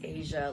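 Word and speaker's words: Azia: you pronounce your name it's asia like the continent is just spelt with a zed my parents are both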